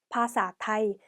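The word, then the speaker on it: ภาษาไทย: 그래서 태국어로 언어에 해당하는 태국어인 파사, 그리고 태국은 타이, 그래서 파사타이 이렇게 발음해 주시면 돼요.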